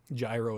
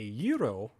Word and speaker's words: gyro: Gyro is not how you pronounce the beagle. I know a gyro is spinning wheels. A euro is the Greek sandwich.